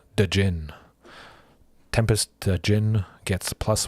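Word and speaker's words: Djinn: on tempest dejin the jin jin the d is silent but i always like pronouncing it dejin tempest jin gets plus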